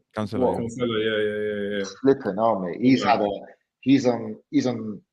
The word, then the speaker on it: Cancelo: Rodri, Diaz, Cancelo. Is that how you say his name? Cancelo.